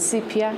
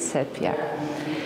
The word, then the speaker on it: sepia: I prefer the Latin pronunciation of that word, not sepia, but sepia.